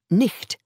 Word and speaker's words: night: So night, pronounced nicht at that time, could be spelt as night or nicht.